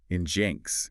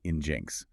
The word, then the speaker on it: nginx: Then there's the web server Nginx. Can't tell you how many times I've heard people say Nginx, but the actual pronunciation is Nginx.